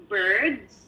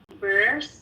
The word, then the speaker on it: birds: Did you say birds or bears? Birds. Birds. Okay, so you have to emphasize on the D, because I was hearing bursts, like November, or so birds, bird, say bird, Birds.